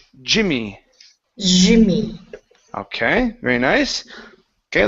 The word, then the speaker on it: Jimmy: Okay, instead of Zimmy, Jimmy.